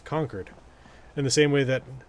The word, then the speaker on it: Concord: Like, yes, the word is Concord, but the pronunciation of the town is conquered in the same way that uh, Quinzy is named for a man with the last name Quinzy.